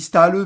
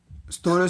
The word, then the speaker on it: Ståle: Bah en fait, je sais pas en fait, il s'écrit S T A S T A L E, deux A L E. Donc, je sais pas si on dit Ståle, mais je pense qu'on dit Ståle.